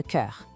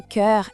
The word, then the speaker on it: cœur: la jambe et le cœur. Esse som em cœur é um desafio, né? É como se a gente fizesse um biquinho para falar eu, mas com a boca em formato de O.